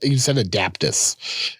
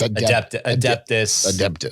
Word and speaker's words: Adeptus: I pronounced it right, finally, right? Nope. No. You said Adaptus. It's Adaptus. Adaptus Astartes.